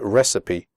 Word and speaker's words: recipe: you pronounce the word recipe correctly the ending CI PE is pronounced CP recipe okay so let's get